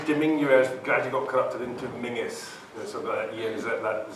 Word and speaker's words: Menzies: And my name is Mingus, Menzies, however you want to pronounce it. Mingus, I think, is the correct Scottish pronunciation.